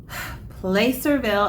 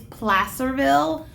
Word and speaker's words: Placerville: get into the video okay so play cereville and I keep saying it wrong the word is Placerville but I've been saying Place reveal since I got there so I can't seem